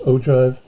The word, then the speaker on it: ogive: this an ogive this one right here it's pronounced ogive and it means the graph of a cumulative